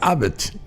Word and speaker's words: Abd: O sea, de la es una suerte de abdo, entonces, de abdo. Abed o abdo. Bueno, hay una una E tácita entre la B larga y la D, sería Abed, una cosa así.